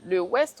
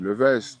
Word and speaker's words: Le West: j'ai toujours pour habitude de dire que le W, il n'y a pas vraiment de règle de la façon de le prononcer. Ok, Donc j'ai toujours laissé les gens le dire comme ils le voulaient. Mais endémiquement, en Guyane, on a toujours dit le Vest, parce qu'on est quand même très franco-français, voilà.